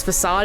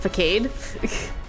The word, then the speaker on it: facade: it took me to learn that it was facade and not fade to be fair unless you